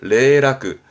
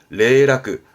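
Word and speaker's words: 零落: 발음은 레라크 레라크 정도가 지난번에 했던 겁니다.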